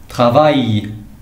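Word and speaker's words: travail: ترافاي اي اي ال. يقدروا يكونوا جوج ديال ال او يعني بحال فيميلا ولا فيرب. اي ترافاي. في اي دوز ال اي جوج ديال ال كيتنطقوا اي.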